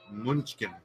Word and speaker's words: München: Hofbräu München. München. München. There's no ken in here.